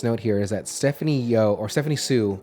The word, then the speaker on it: Hsu: There's a pro skater named Jerry Sue, HSU, and I always pronounce it Sue.